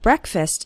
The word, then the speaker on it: breakfast: the first syllable of breakfast is pronounced with an S it's not like the word break it's like Breck breakfast or listen to